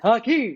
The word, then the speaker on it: Hakeem: Hakeem.